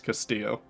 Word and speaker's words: Castillo: is it no it's it's pronounced in that like european spanish freud's castillo castillo oh okay yeah there's the elves are silent okay very practical and